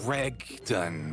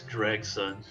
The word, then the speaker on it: Gregson: You said Gregdon a few times. Gregdon is the inspector next to me. It's Gregson.